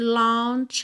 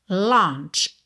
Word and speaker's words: launch: Aqui launch. Essa é uma palavra bem curiosa, porque a gente tem na escrita L a U n. Não é launch, tá? É um O que parece que tem acento agudo e tio ao mesmo tempo.